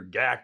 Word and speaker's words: GAC: video honoring Andrew pindar GAC or gak as a lot of us call it GAC pindar and Gordon